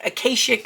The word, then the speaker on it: akashic: some people pronounce it Acacia some people pronounce it akashic I'm going to pronounce it akashic because that is what the pronunciation God said on my phone all right so it